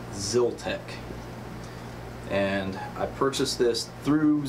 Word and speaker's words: Zyltech: I know in my previous video I said Zyl tech but I actually contacted their customer service to see how you pronounce it and they were very nice very friendly and it is actually pronounced Zil tech and I purchased this through Zil tech on